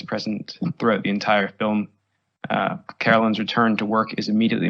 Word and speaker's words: Carolyn: But conversely, there's male antagonism that faces Carolyn throughout her workday, from her coworker Jim's milquetoast support of her return, getting her name wrong even after being explicitly told that it's Carolyn, not Caroline, and the lack of